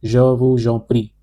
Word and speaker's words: je vous en prie: You are welcome means je vous en prie. Je vous en prie here, we will apply the liaison rule.